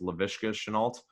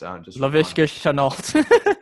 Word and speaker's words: Laviska Shenault: I'm pretty sure it's Laviska Shenault. Laviska. Yeah, just say it a few times fast. Laviska Shenault.